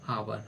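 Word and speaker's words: hour: यू आर है ना आवर आवर यानी घंटा तो इसमें उच्चारण क्या हो रहा है और इसके ओ निकल रहा है ना तो ओ यानी किससे आ ए एन तो यहां पे हम क्या लगाएंगे?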